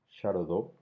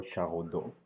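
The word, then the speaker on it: Charaudeau: Continuamos con la argumentación persuasiva de Patrick Charodot o Charodot, ambas pronunciaciones están bien, y lo vamos a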